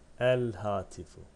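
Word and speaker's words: الهاتف: El hati fu. El hati fu. Ne demek istedik? Lam okunur. Ha ise şeddesiz okunur. Niye? Çünkü lam pardon ha kameri harftir.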